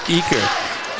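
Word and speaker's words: Euker: They call him Eaker, spelt exactly like it's Euchre. spelled like Euchre.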